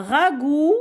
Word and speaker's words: ragoût: Maman a préparé un ragoût, le T muet, d'agneau. Je relis. Dimanche matin, nous déjeunons en famille. Le midi, nous avons des invités. Il arrive à midi. Maman a préparé un ragoût d'agneau.